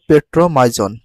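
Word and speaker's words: Petromyzon: সাইটোক্লো পর্বের প্রাণীর ভিতর কি রয়েছে পেট্রোমাইড দেখো পেট্রোমাইজন পেট্রোমাইজন পেট্রোমাইজন যদি ইংলিশে কারেক্ট প্রোনাউন্সিয়েশন করে এরকম ভাবে পেট্রোমাইজন পেট্রোমাইজন ফেট্রোমাইজন সঠিক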